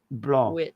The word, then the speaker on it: blanc: Blanc. Blanc. Yeah. You don't pronounce the C at the back.